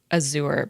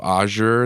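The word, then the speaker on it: Azure: know what it is I always read it as Azur but I think that's wrong okay so ah sure then it's a shock okay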